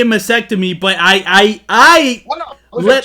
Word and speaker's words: mastectomy: He fucked up mastectomy. He fucked that word. Yeah, but nobody. What? How do you pronounce it? How do you say it? Mastectomy. He missed the T.